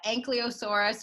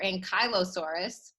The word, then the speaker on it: Ankylosaurus: uh this dinosaur is pronounced two ways you can choose whichever you like I've been told it's either the ankylosaurus or ankylosaurus I prefer the latter so this guy has